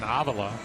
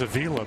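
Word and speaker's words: Avila: His father and grandfather were known for the pronunciation Avala. But Alex got so used to people just mispronouncing his last name, he's just embraced it. And now instead of Avala, it's Aila.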